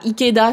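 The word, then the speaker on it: 池田: C'est pas ta, ici c'est da. Ikeda, c'est un nom de famille assez courant.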